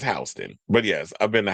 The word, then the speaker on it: Houston: I hope you wasn't pronouncing it Houston. It's Hston, but yes, I've been to Hston Street.